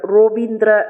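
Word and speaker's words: রবীন্দ্র: கோ அப்படிங்கிற உச்சரிப்போட வரும் ரவீந்திரன்னு சொல்ல மாட்டார்கள் ரோபீந்திர அப்படின்னு தான் சொல்லுவார்கள் சென்னை சென்னம்மாதேவியினுடைய ஊர் காளிகாம்பாள்னு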